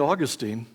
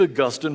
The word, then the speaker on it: Augustine: no less than St Augustine and by the way for some of my students that's a correct pronunciation not Augustin save Augustine for those who really love Britain we're augustinians so Augustine